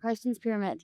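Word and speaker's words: Carstensz Pyramid: Maybe the biggest of which being the 2024 Utah Senate race, followed by going to climb, am I pronouncing this right? Karsten's pyramid. Karsten's pyramid.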